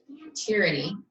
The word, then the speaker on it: tyranny: was a tyranny now tyranny is pronounced tear like when you cry tyranny but when you're talking